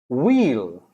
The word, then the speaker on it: wheel: white white white white wheel wheel you know the every car ha runs on wheels wheel so the h is silent all right then we